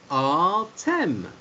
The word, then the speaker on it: Artem: So with M at the end, like the word them, T-H-E-M, that gives us Artem.